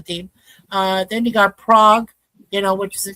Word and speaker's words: Prague: Yeah, you got Frankfurt Galaxy, Munich Ravens, Nordic Storm, Paris Musketeers, Prague Lions, uh Parole Raiders, and Parole Raiders. Yeah. and Wolfie, it's pronounced Prague.